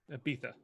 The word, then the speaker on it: Ibiza: mean Ibiza or Ibiza Peetha alright I don't know where Abita is I'm very stupid a visa is a visa but they don't pronounce disease in Spain they pronounce some more like th's so it's not a